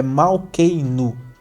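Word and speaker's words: מלכנו: de ouro chorar avinu malkenu chamar Deus de nosso pai e nosso rei é mal Key no eu sempre essa pronúncia além disso a saudação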